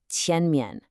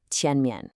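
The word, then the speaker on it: 前面: The tone is the second tone, the rising one. It should sound like you're asking a question. Tian. And the second syllable, mian, usually gets a neutral tone here, so it's very light. The real emphasis is on that first syllable, tian mian. Listen one more time, tian mian.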